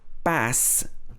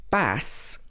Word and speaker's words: bass: So the next one is bass and bass. Again, spelt the same, but pronounced differently. You might know the second one, but you might not know the first one. Bass is a noun, and this is actually a